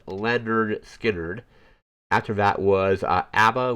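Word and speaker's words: Lynyrd Skynyrd: Uh, next up was Leonard Skard and the album is Pu pronounced pronounced Leonard Skard.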